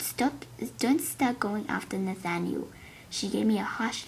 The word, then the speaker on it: Nathaniel: couldn't spell that name i keep saying nothing new or something like that it's actually nathaniel so yeah it's gonna